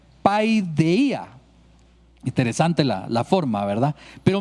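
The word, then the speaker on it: παιδεία: encontramos que viene del griego 3809, que se pronuncia paideia.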